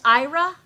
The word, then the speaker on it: Aira: that's pretty much it and even though it's pronounced IRA it's you have to say era C open era that's the only way I renamed thing and